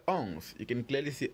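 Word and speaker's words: onze: how do we spell ons you can clearly see ons here is spelled o n z e ons do is spelled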